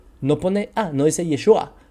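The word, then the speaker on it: ישוע: ain no tiene y es u no tiene yeshua entonces vemos que el mismo texto de la peshita en arameo no pone Ah no dice yeshua Y ustedes van y le preguntan a alguien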